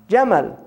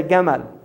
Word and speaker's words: Jamal: Jamal, right? Camel is from Jamal, because the Egyptians say Gamal. They pronounce the jim Gamal. So when the Europeans first heard it, they heard Gamal, camel, right?